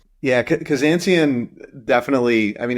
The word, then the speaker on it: Kazanciyan: Yeah, Kazanciyan definitely, I mean, it's sort of phonetic, right? Armenian last name, and I've heard lots of variations on how it's pronounced.